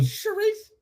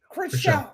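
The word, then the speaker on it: Chrishell: Charisse. Pretty Pretty girl from Selling Sunset. That's what. Chriselle.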